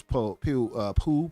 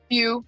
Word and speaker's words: Pugh: Oh yeah, Florence Pugh. How do you say her name? Pugh.